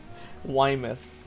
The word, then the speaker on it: YMWS: Wymus. That's how you pronounce that.